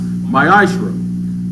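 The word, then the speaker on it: מעשר: it means 10th in hebrew is pronounced maisha one tenth of every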